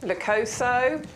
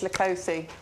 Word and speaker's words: Leucothoe: I think it's Leucothoe. Yeah, because Adam was with us the week before last. He calls it Leucothoe. And he calls it Leucothoe, but there are different ways of pronouncing plants.